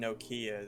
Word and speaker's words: Nokia: no Kia.